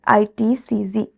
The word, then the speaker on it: ITCZ: also known as the itcz a or horse latitudes subpolar low or polar High it is known as itcz it is pronounced as Z not Zed sea breezes are characterized